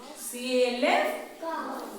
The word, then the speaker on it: calf: C-A-L-F. Calf. Half. Calf. L is silent.